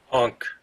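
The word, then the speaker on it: ankh: I'm saying that right I always call it the ank sign but it's a symbol of the Egyptian go ahead UNK oh thank you I knew I wasn't saying it right hunc as the Egyptians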